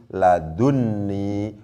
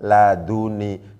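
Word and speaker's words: لدني: Akhirnya menjadi ladunni, bukan laduni.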